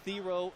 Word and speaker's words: Theo: to every Network announcer it's Theo like hero I know it's not how we pronounced it last year but it was wrong so ESPN had a